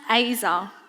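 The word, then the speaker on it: עזר: Z-E-R, pronounced Azer.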